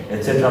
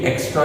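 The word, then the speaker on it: et cetera: इसको बोला कैसे जाता है, एटसेट्रा, एटसेट्रा, ईटीसी डॉट एटसेट्रा। ठीक है, एक्स्ट्रा नहीं है, एक्सेट्रा नहीं है, एक्सेट्रा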